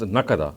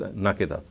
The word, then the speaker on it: نَكِدًا: He says that some people have read the word as nakada, whereas the qira'atul amma is nakida. So in other words, he has said that even the morphological pronunciation of the word nakida is correct, is recorded by the qira'atul amma as nakida, but there are some people of Medina who read it as nakada.